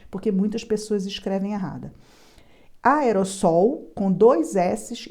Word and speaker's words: aerossol: tetracampeão sempre sem- o cuidado com essa palavra aerosol é exatamente assim que pronuncia aerosol muita gente insiste em escrever essa palavra com apenas um s e fala aerosol está errado o som não é som de z é som de s que nem sol aerossol Essa